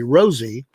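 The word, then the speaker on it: Rosalynn: The former president sometimes called his wife, who died November 19, 2023, Rosie, which is a good way to remember how her name actually is pronounced.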